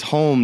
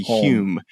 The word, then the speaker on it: Hume: He says home now. It used to be Hume, but it's home now. Just how it looks.